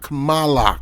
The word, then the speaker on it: Kamala: chele like P chele it's not chele it's not camela it's Mal say it with me come Allah come Allah Kamala Cala you got it